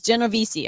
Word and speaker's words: Genovese: Dan says, "You nailed my last name, Genovese. Genovese." See, I couldn't even say it wrong because he said it. It's Genovese. Okay.